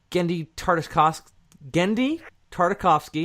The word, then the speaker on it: Genndy Tartakovsky: So, next time, we're going to be doing the Genndy Tartakovsky, is that how you say his name? Did I do it right? Yeah. Woo! Success in life achieved. The Genndy Tartakovsky Star Wars: The Clone Wars animated series.